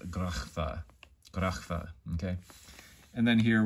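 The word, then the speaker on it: Graph: it's spelled G-R-A-P-H, but it makes the grachfa sound, okay? And that C-H I'm using, it's not the ch sound, it's the ch sound, like you might hear in German or Hebrew or other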